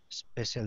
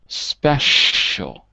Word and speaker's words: special: We'll be back after these commercials with two more special dishes from Artichoke Coffee. One more word. Special. Special. That's it. It's a sh sound.